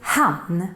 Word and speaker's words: hann: And that would be han. Don't mix it up with han, even though it's pronounced exactly the same. We just add an extra n for han. Let's look at some examples.